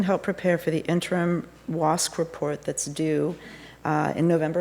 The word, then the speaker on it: WASC: But it's pronounced WASC, regardless of whether it's WASC or it's WSCUC.